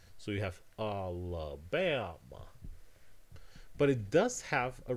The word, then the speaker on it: Alabama: So this word needs to be Alabama. You can't have, for example, a tense vowel here. You can't have an a. You cannot say this word Alabama. That would sound really weird.